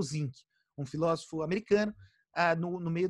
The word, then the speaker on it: Zinck: grande democratização, é o Zinck, um filósofo americano no meio do século XX. Aí o cara... Como se escreve isso? Z-I-N-K, igualzinho zinco, tipo do elemento químico.